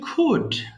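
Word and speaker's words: could: আজকে আমাদের লেসন হচ্ছে খুড দেখো খুড না কিন্তু এল এর উচ্চারণ করা যাবে না এখানে হ্যাঁ সিম্পলি খুড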